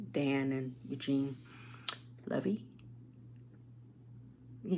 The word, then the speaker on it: Levy: like Dan and Eugene Levy he said how to pronounce it I've heard so I'm like I think it's Levy not Levi or something like that